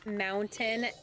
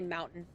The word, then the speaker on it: mountain: I I I make a a con an effort to say uh mountain and pronounce the t because that's not something that happens here. Most people just say mountain.